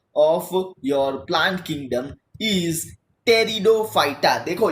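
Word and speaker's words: Pteridophyta: your plant kingdom teaser टेरिडोफाइटा देखो यहां पर प्रति जो है वह साइलेंट है बच्चों तो इसको हम लोग बोलेंगे टेरिडोफाइटा टेरिडोफाइटा मींस द का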